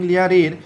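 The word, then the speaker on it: Lear: করডেলিয়া তার বাবা কিং লিয়ারকে উদ্ধার করার জন্য এসেছিল আপনাদের মধ্যে অনেকেই জানেন তাহলে এটিকে মনে রাখবো কি হবে লিয়া দেখুন লিয়ার উচ্চারণ করার সময় কিন্তু আর উচ্চারণ হয় না রাইট লিয়া দেখুন করডেলিয়া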